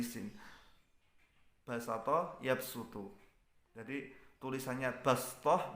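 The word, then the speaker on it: بسطة: Jadi sod dengan sin, bastoh tulisannya, bacanya bastoh.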